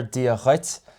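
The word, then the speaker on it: Dia duit: Yeah, and now also I'm doing a kind of a glottal sound there, Dia Chuit. It's spelled D-U-I-T, but in general we put kind of a shevu, kind of a softened sound on it.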